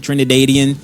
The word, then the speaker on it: Trinidadian: It's I think it's Trinidadian. That's how you say it. Trinidadian.